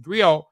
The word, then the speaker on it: griot: griac or Jolly profession Encompass many roles griac pronounced griot have been referred to as historians and storytellers